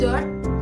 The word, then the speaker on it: dört: Dört. Jadi pengucapannya dört. Jadi O-nya itu ada titik dua di atas.